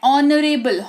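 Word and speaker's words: honourable: ऑनरेबल prime minister या ऑनरेबल ऑनरेबल एच जो है वो साइलेंट होता है ठीक है माननीय आवर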